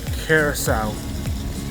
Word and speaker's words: Curaçao: It's called Carousel. Okay, so here's the directory. You can pause it if you guys want to see it, but I'm going to keep on walking. Entering the dungeon. Carousel.